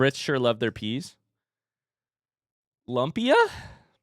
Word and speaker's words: lumpia: It's bad because you're saying it wrong. It's actually lumpia.